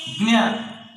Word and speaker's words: ज्ञ: ज्ञ, जा प्लस इन्या, इसका सही उच्चारण ज्ञा है।